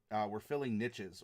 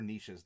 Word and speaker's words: niches: We're able to differentiate each other just enough that we're filling niches or niches, depending on how you want to pronounce it.